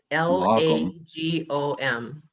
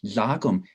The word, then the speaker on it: lagom: the difference between hygge and the swedish word l-a-g-o-m uh how do you pronounce that lagom lagoon right a lagum is